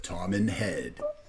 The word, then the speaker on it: Toman Head: Pronounce this. Tom and Head.